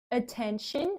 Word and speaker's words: attention: Não é porque tem t i o n que é tion, tá? T i o n a gente fala shan.